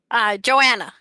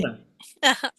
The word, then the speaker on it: Johanna: Johanna, yes? Said it right? Joanna, H is silent. Joanna.